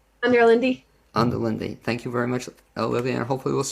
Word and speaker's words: Onderlinde: it up your last name i'm your lindy under lindy thank you very much olivia and hopefully we'll